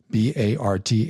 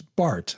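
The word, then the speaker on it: Barth: 20th century was Carl Bart b a r t h it's Bart I know it looks like bar but it's pronounced Bart and um he died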